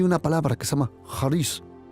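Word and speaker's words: χάρις: En griego solo hay una palabra que se llama haris o caris, pero se pronuncia y se escribe con haris.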